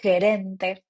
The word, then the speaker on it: gerente: Manager is gerente, because remember that the G here is super strong, so you say gerente, right?